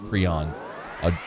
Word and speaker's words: Prean: But nice to get a big in-state get there for Brian Kelly and the squad with Khai Prean, Prean, I'm told it's pronounced Prean, jumping into the class.